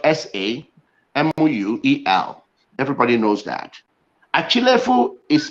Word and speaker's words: Achilefu: Samuel Achilefu.